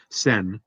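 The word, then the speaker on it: 船: Apparently, the word for boat or ship is, I thought it was fune, but it's also going to be pronounced as sen.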